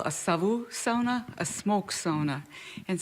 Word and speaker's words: sauna: So now we're in the sauna and if you see on this placard here it's pronounced sa definitive proof right there printed on paper.